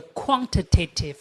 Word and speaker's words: quantitative: the administration of the quantitative restrictions. Quantitative. This is an American way of pronouncing this one. Quantitative because American people like to read t a tiv like a tative.